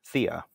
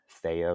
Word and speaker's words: Thea: people out there, and it's always pronounced Thea. And at that point, I was still just very, very early on in the name, and I asked myself, like, do I mind? Am I set on Thea versus Thea? And I had decided that it doesn't make a difference to me either way.